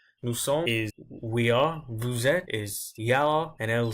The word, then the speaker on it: vous êtes: Vous êtes, I didn't pronounce the S there, as you can see.